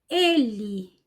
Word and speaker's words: ele: Ele, ela. Preste atenção nos meus lábios. Quando eu pronuncio E, o lábio fica mais fechado.